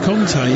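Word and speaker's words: Kanté: It's pronounced Kante, isn't it?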